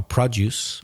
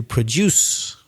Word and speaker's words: produce: so the stress changes the verb has the stress on the second syllable produce and the noun on the first syllable produce and the word